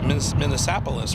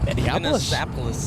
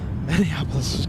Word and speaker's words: Minneapolis: to be back to minnapolis right Minneapolis yeah Minneapolis Kevin with the pronunciation oh look who's talking